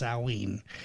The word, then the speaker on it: Samhain: date back to the ancient Celtic Festival of sewing which is actually spelled like Samhain like si ma che I and I know a lot of people have heard it pronounced that way but it's actually pronounced salween the Celts who lived about 2,000 years ago